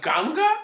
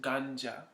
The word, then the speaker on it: ganja: you call it the ganga the gun i don't know that's probably not i don't know where i got that name it's just i don't know it's pronounced ganja ganja thank you for that